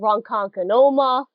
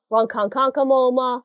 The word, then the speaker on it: Ronkonkoma: I know is Ronkonkoma a lot of people call it wrong conquer Noma Ronkonkoma yeah it's just bad it gets worse of worse they just keep on adding syllables we actually shorten it